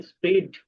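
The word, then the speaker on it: spread: ছড়িয়ে পড়া স্পিড না আপনারা অনেকে এভাবে পড়বেন না স্প্রিড স্প্রিড স্প্রিড স্পিড এরকম না বরংটা এখানে এর উচ্চারণ হবে স্প্রেড সপড আচ্ছা তারপরে খেয়াল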